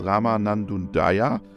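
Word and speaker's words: Rama Nanjundaiah: the shop floor enjoy listening my guest is Rama nandundaya Welcome to our podcast hi robot thank you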